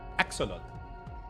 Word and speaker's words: axolotl: Axolotl.